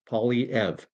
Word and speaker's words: Poilievre: Very simple. Poly, like polygraph, poly this, poly that, politics, Poilievre, like ever. Poilievre.